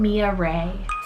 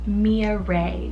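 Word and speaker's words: Millaray: on the girls side i have the name mia ray cell m-i-l-l-a-r-a-y mia ray now this one has so many nicknames that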